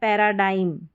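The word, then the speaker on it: paradigm: तो यहां पर देखिए इसको पढ़ा जा रहा है पैराडाइम। पैराडाइम एम का उच्चारण हो रहा है लेकिन जी नहीं।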